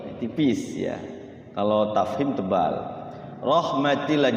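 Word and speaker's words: رحمتِ الله: Rahmatillah, jangan rahmatullah ya. Kalau rahmatullah nanti dia tebal. Rahmatillah tipis.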